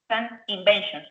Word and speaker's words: invention: Remember that in English is V, V, V. So invention and the other B is B, B, B.